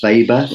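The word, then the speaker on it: Weber: theory uh then a very important writer Max vber and it's pronounced vber it's spelled we b r but it's pronounced VOR because he's of German extraction he suggested that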